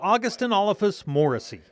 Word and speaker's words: Augustynolophus morrisi: Augustynolophus Morrisi. Can you say August? August. Inolophus? Inolophus. Morrisi. Morrisi. So you put it all together, it's Augustynolophus Morrisi.